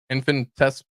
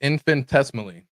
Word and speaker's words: infinitesimally: Infinite. Nope. Infinites. Nope. I tried again. It's infinitesimally.